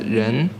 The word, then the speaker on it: 人: It pronounced as 人, and it means a person.